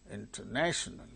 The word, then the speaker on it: international: not the same thing say second one example International International national one two three third syllable gains primary stress so it